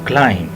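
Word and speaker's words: climb: word है जी हा क्लाइम इसमें जो टेक्निकल बात है वो यही है कि इसमें हम बी को साइलेंट करेंगे और य एक लफ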